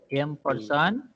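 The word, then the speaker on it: ampersand: Okay, एम परसन सी। इसको एंड नहीं बोलेंगे, हम क्या बोलेंगे अभी, एम परसन, ऐसा उसका प्रोनाउंसिएशन करेंगे, ठीक है।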